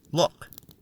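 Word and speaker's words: Lugh: you bells for you keep in mind that Lou is sometimes pronounced look as in the Luck of the Irish I told you these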